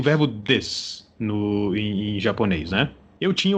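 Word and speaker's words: です: do curso de línguas, que ele falava desu. Ele fazia o U, ele pronunciava o U, apesar de que todos os outros professores falavam des, né? Mas com a pronúncia do U oculta, né?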